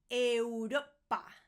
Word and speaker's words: Europa: We have Europa. Europa. Europa. Europe. Europa. Once again, make sure that you're pronouncing all the vowels. If it's a bit of a mouthful, just slow down. Europa.